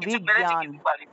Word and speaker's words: বিজ্ঞান: আলাদা করতে পারিনি আচ্ছা বিজ্ঞানটাকে উচ্চারণটা বিজ্ঞান বিজ্ঞান বিজ্ঞান অর্থাৎ গ এবং ইয় উচ্চারণটা আসবে গ এবং ইয় এই দুইটা শব্দকে একসাথে উচ্চারণ করলে যে উচ্চারণটা আসে বিজ্ঞান জ্ঞানী বিজ্ঞান জ্ঞানী ঠিক